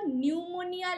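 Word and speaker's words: pneumonia: পিপি এল ও প্লুরো নিউমোনিয়া like organism নিউমোনিয়ার পিটা silent থাকে পি এন ইও এম ও এন আই এ ঠিক আছে বানানটা প্লুরো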